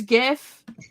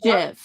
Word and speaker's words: GIF: I've got a flag with a hard G the hill that I die of yeah no yep even Kelly it's GIF it's not Jeff yes you know how